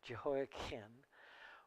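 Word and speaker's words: Jehoiachin: je jeho Kim jein it's a CH and we often want to pronounce it with chin but it should be pronounced Ken jeho kin which is interesting because jeho Ken was the last king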